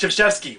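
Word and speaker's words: Krzyzewski: I hate Coach K his name does not sound the way he spells it it looks like kuski but pronounced cheski what the hell is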